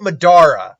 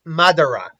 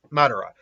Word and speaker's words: Madara: say it it's not it's not Medora I keep saying like Medora sometimes I believe it's Madara is the name of obviously Madara and I'm doing the